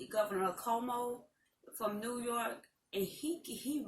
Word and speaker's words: Cuomo: Cuomo, and that's how you say his name, Cuomo in New York.